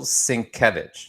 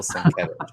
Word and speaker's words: Sienkiewicz: So it's Bill Sienkiewicz, and he also has a hard to pronounce last name, Bill Sienkiewicz.